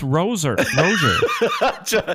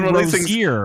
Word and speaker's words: Roser: It's Roser. Josh, I've been saying Rosier.